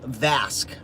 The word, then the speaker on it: Vasque: The other brand that I found the other day is a brand called Vasque, V-A-S-Q-U-E. I believe that's how you pronounce it.